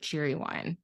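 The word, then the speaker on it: Cheerwine: before in my life cheer wine cheer yes and they say it like Cherry Wine Cherry Wine it's black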